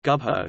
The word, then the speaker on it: Gubbio: Gubbio, Italian pronunciation, Gubbio, is a town and comune in the far northeastern part of the Italian province of Perugia, Umbria.